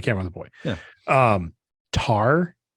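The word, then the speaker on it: Tár: Tar, I think is how you say it, T-A-R. There's a weird accent above the A, so maybe that's not right.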